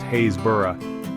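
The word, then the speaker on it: Happisburgh: Think of Mouse Hole in Cornwall pronounced Maoelle or Hapiesburg in Norfolk pronounced Hayesborough or Fro in Somerset rhymes with broom.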